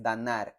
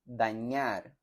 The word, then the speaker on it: dañar: Noten la diferencia entre la ñ y la n. No es danar, es dañar.